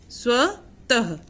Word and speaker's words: स्वतः: और इसका उच्चारण, इसको बोलते हैं अह की ध्वनि निकलती है। ठीक है, जिसका उच्चारण अह की तरह होता है। जैसे प्रातः, स्वतः, प्रातः स्वतः उठा करो,